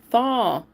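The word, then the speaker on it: Thoth: Thaw.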